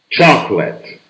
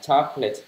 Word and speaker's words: chocolate: quá thông dụng rồi chocolate ch chocolate đp chậm n chocolate Nhưng mà thường thường mình bỏ ch đ bỏ đi chocolate chocolate chola holid Holiday